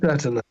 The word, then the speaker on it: Saturnine: So we open up with Captain Britain and how do you pronounce it? Saturnine? Mm-hmm. Yeah. Saturnine.